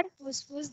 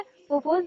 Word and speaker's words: फुफ्फुस: आप प्रोनाउंस अगर गलत करेंगे, याद अगर गलत करेंगे तो आप लिखेंगे भी गलत। देखिए पढ़िए क्या है, फुफ्फुस धमनी है, फुफ्फुस शिरा है, ठीक है।